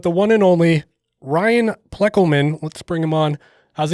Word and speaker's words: Ploeckelman: i'm talking about the one and only ryan pleckelman let's bring him on how's it going tonight